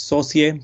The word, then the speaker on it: Sauzier: We pronounce it as Sauzier. Sauzier is someone who makes sauces in French.